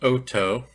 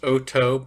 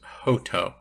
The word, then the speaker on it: Hotot: These are pronounced Hotot. Looks like hot tot when you look at the spelling. It's correctly pronounced Hotot, but sometimes you will hear it more often said as Hotot.